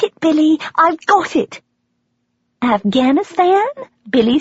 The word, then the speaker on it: Afghanistan: I pronounce Afghanistan with a long a just like someone from the BBC World Service would pronounce Afghanistan.